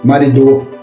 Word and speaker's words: marido: Porque eu não falo marido, nem marido. Falo marido. Então, o ri é a sílaba forte.